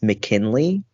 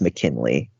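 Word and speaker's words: MKNLY: liar and it's by the band uh it's pronounced McKinley but to spell it is just m as a mic k n is November l y so MK NL Y and then it's pronounced McKinley so I he trying to pay homage to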